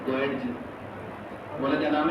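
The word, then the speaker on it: Goetz: हरमन, ये साइलेंट है यहाँ पर, गोयडजी बोला क्या नाम है?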